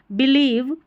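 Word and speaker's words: believe: ये जो लास्ट में VE है ना, इसको व करके पढ़ा जाता है। इस तरीके से आखिर में जो ई आता है स्पेलिंग के, वो हमेशा साइलेंट रहता है, बस 2-3 स्पेलिंग को छोड़कर।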